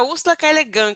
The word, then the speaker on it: Ursula K. Le Guin: Úrsula K. Le Guin, né? Como é que fala o nome da Úrsula? Que eu falei errado. É Úrsula K. Le Guin que se pronuncia.